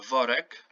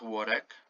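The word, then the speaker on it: worek: each and every so the w in polish is pronounced v it's the same um yeah so v uh vorek not warrek bag so the egreg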